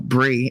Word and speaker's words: brie: the pronunciation was different I used to call them both Brie but no Bri is a cheese bris is you know when the mo goes and removes the foreskin at a whole ceremony